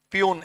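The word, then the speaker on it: puisne: not necessary for us peon s is silent Pune judges and the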